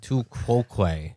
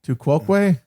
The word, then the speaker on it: tu quoque: I don't know how it's pronounced. It's Latin. Tu quoque. Too quoque.